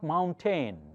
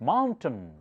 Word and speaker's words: mountain: T-A-I-N is pronounced as ton. That's the schwa sound. So it's not mountain. It's not mountain. It's mountain.